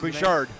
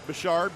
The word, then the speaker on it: Bouchard: we have Jeremiah Bouchard I pronounced bishard bashard b o u c h a r d he was third at